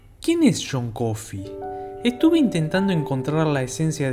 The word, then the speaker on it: Coffey: quién es john coffee estuve intentando encontrar la esencia de john coffee de quien tenemos bien en claro que su apellido se pronuncia como el café pero se escribe totalmente diferente en este vídeo intentaré